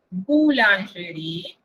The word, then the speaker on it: boulangerie: Entonces, patisserie, boulangerie. Recuerden, ese OU se pronuncia U y ese O es nasal.